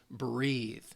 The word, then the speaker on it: breath: Right here, B-R-E-A-T-H, breath. You're talking about when you're taking air in.